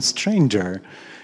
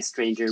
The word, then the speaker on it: Stranger: is it stranger because it in norwegian it's strange as you pronounce it but but when i talk to to people in in the us or in english i often say stranger just because it's easier but yeah but it's